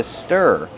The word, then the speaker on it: stir: I need the whisk to stir and to mix. Stir the food with a whisk. How do we pronounce stir? Stir. Use the closed sound like burger.